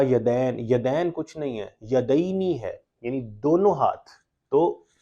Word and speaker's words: یدینی: پہ عینی ہے رافع یدینی، ہم ہمارے اپنے تلفظ میں یدین کہہ دیتے ہیں، یدین کوئی لفظ نہیں ہوتا، یدینی ہے، والدینی ہے، ہم